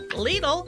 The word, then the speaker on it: Lidl: store in east cobb lidl rhymes with needle a german-based discount grocer